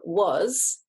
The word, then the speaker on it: was: english for example in was we've got so usually we'd expect that to be a letter o and a um it's a z sound at the end but it's about w-a-s